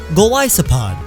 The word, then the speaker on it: Golisopod: Golisopod. It's a Goliath isopod.